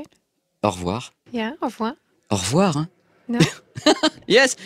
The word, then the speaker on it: au revoir: Yeah, au revoir.